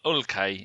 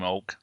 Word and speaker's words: Hulk: And his name's Hulk pronounced. is shit. I don't like Hulk. No, it's Ulke, if you want to say it the Brazilian way, but we'll call him Hulk.